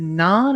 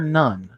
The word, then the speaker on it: Nunn: Is it non or none?